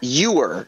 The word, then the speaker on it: ewer: Oh, it's Ewer, is how it's pronounced.